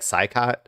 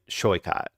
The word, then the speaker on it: Saikat: I always forget how to say it because it looks like Saikat, but it's I think I've heard people say Shoikat.